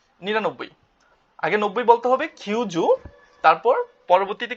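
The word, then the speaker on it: 九十: আগে 90 বলতে হবে কিউজু তারপর পরবর্তীতে কি যুক্ত হবে এখানে আরেকটা কিউ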